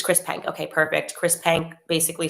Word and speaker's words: Chris Penk: which I want to say his name is Chris Penk. I want to get that right, actually, if you just bear with me. I do want to just thank him. Minister, it's Chris Penk. Okay, perfect. Chris Penk basically said, we're reversing this ban.